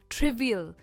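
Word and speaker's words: trivial: इसकी प्रोनाउंसिएशन है ट्रिवियल। जो स्ट्रेस है वो ट्रिव पर है।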